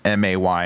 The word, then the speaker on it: me: The second single was It's Gonna Be Me, and I really wanted to type M-A-Y instead of M-E because of how Justin pronounces it. It's gonna be May.